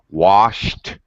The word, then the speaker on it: washed: that problems with that the sh sound is an unvoiced sound so the eb at the end has a t pronunciation okay very common uh error for second language speakers so washed brushed wished uh always a t sound thank you ludy all